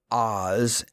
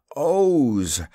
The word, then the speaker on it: Oz: own country he sneered it is not oz as you say it but owes the zone of o's